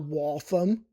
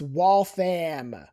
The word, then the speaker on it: Waltham: It's not Waltham. It's Waltham. Waltham. Some great brunch places in Waltham because you got colleges there and I assume that's why they're there.